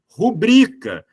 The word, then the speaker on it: rubrica: parte das acentuações tônicas a tal da rubrica que é uma palavra paroxítona e nada daquela coisa